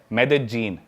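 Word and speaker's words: Medellín: उसकी एक सिटी है मेदजीन। स्पेलिंग में उसमें डबल एल आते हैं। मेदलीन होता है। लेकिन कोलंबन स्पेनिश में ल को ज बोलते हैं।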